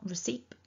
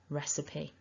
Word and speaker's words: recipe: time repeat after me recipe so it's not recipe or recip we need that e recipe that's your takeaway point